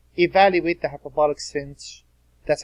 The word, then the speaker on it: sinh: It says, evaluate the hyperbolic sinh, that's how you pronounce it, sinh of x, cosh of x.